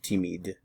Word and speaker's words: timide: We have timide and timide. Notice the pronunciation is all the same.